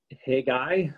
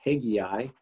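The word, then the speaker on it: Haggai: at the book of hey guy again i had a professor who had mispronounced this one as well and called it hegei i'm not sure why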